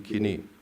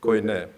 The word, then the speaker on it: koine: The liturgy ought to make in translation what it makes in kini. Sorry for the Greek pronunciation of Greek, so I pronounce it in the Greek way, not koine in Erasmian.